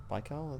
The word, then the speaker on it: Baikal: see this lake a lake baikal by karla that's how you pronounce it it's the the